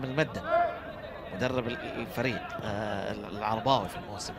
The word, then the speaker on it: المؤدب: الحي، هو حاتم المدب تكتب الكل يقراها المؤدب بما أنها تكتب بالميم واو عليها همزة دال باء، لكن هي المدب التوانسة ينطقون حاتم المدب مدرب الفريق العرباوي في الموسم الحالي.